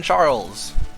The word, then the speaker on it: Xujhan: Hi everybody, I'm Charles. And yes, that's the canonical pronunciation of the weird looking name that starts with X.